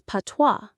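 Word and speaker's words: patois: Number nine is PWA. P A T O I S. PWA. The IPA is PWA. The S is completely silent.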